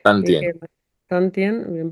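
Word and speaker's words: 丹田: que Tantien, bien pronunciado, y que los hinduistas o otras culturas llaman jara.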